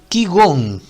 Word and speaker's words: qigong: Qigong. Qigong, sí, se pronuncia qigong.